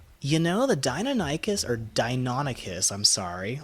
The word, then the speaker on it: Deinonychus: know the Deinonychus our Deinonychus I'm sorry I've always mispronounced that so I've always been calling it a dino Naik is for like ever the Deinonychus is actually